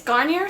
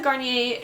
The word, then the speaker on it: Garnier: My next December favorite is this Garnier Skin Renewal Anti-Puff Eye Roller. So this is what it looks like. I always pronounce the name wrong.